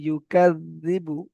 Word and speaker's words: يكذب: আর আই, আর আই তাল্লাজি, আর আই তাল্লাজি ইউকাযযিবু, ইউকাযযিবু, জাল এটা পাতলা করে উচ্চারণ করতে হবে।